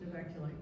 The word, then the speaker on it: Novaculite: So I pronounce it Novaculite, but it is now used for whetstone art.